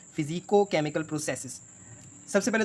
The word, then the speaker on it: physicochemical: सबसे पहले तो हम ये टर्म समझते हैं, इसकी जो सही प्रोनाउंसिएशन है ना, वो हम जो है आम रूटीन में, डेली रूटीन में हम इसको कहते हैं फ़िज़ियो केमिकल प्रोसेसेस, जबकि फ़िज़ियो केमिकल प्रोसेसेस नहीं है ये है फ़िज़िको केमिकल प्रोसेसेस।